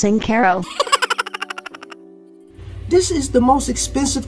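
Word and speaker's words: Cincoro: uh have you guys ever heard of um cesaro it's a tequila it's pronounced sincero this is the most expensive tequila that you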